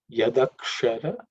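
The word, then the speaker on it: यदक्षर: Yadakshara, so that ksha is cerebral sha. So if you pay attention to the tongue position, it will be good.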